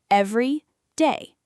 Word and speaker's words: everyday: When we say every day, one word, it all flows together, and the stress falls on the very first syllable, every day.